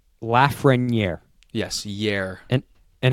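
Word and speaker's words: Lafrenière: you know pronounce it laugh friend yeah is that how he says it yes laugh wing down here that's how the French say it laughs ring year yes year and and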